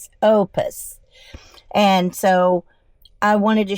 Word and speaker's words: Oupes: I set up the battery stations so you can see power stations, and as you can see, it says Oupes. It's pronounced Ohpus, Opus.